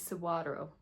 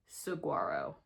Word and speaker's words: saguaro: Uh, it is suo. So, the G is a W. And it is really destroying my brain trying to pronounce that right. And I still might not be pronouncing it right, but it is not Saguarro. It is with a W.